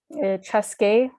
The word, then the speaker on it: Chaska: There's so many cities and places in Minnesota that the names were originally Dakota and have been anglicized. Anoka, Anunka, which means on both sides. Chaska. So sorry if I'm saying these weird, it's after learning the Dakota pronunciations, it's hard for me to go back to the English, I guess, pronunciation, the anglicized pronunciation.